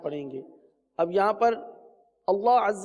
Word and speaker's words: اللہ: حمزہ لام زبر ال، لام کھڑا زبر لا، اللہ پر کر دیجئے، اللہ کم پر ہے اور پر کیجئے، اللہ.